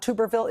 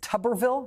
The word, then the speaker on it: Tuberville: His name is often mispronounced Tuberville. It is not Tuberville, it is Tuberville.